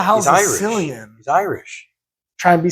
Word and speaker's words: Cillian: I forget how you're actually supposed to say his name because that's not the correct way either. Killian Murphy. I think it's Killian. Killian. I think it's Murphy. Killian. Yeah, it is.